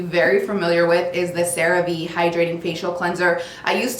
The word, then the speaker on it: CeraVe: I've been calling this Cerave forever. It's Cerave. This has been in my